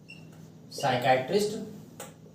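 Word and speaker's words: psychiatrist: अगला शब्द है हमारा साइकैटरिस्ट और एक शब्द है साइको लॉजिस्ट तो जो साइकैटरिस्ट शब्द है और साइकोलॉजिस्ट शब्द है इसमें पी है ये साइलेंट है तो यह स्पेशलिस्ट में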